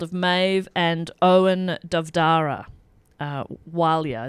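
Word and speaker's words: Ó Máille: maeve and owen davdara walia is their surname which is spelt o m a i double l e um that's wilya and the family was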